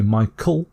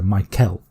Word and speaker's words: Michael: I'm British, so I would often say Michael, which might be with the sound. But you could also just say the sound, so Michael.